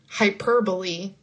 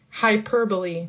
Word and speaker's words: hyperbole: Hyperbole. Another weird word. like it doesn't follow any of the traditional pronunciation rules. Hyperbole. Hyperbole.